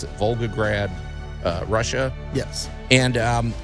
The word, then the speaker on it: Volgograd: and it's in uh Vogue how do you pronounce it Volgograd uh Russia yes and um it commemorates the